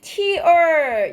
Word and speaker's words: tear: torn은 원형이 tear. 이게 뭐야? 동사로 읽을 땐 tear이라고 읽어요. tear. 명사로는 눈물이지만 발음을 tear이라고 하면 이렇게 찢다예요.